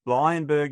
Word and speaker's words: Bleijenbergh: First of all, talk us through the the pronunciation. Lionberg is what I'm going with.